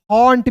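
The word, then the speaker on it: haunt: देखिए एच ए यू एन टी, हॉन्ट miss होता है दोस्तों डराना या बसेरा।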